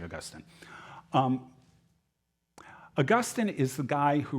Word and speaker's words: Augustine: You may pronounce it Augustine, I don't care. I say Augustine.